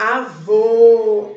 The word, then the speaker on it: avô: Indica a pronúncia fechada da vogal. O sonzinho ele sai fechado. O agudo, o sonzinho é aberto. Avó, avó é aquele sonzinho aberto. O circunflexo, certo? É aquele sonzinho mais fechado.